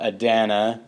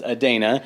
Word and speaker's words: Adana: Adana, I pronounced it incorrectly starting off Adana, but it is Adana.